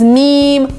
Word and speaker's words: meme: also funny, but no, it's meme with a long E, meme.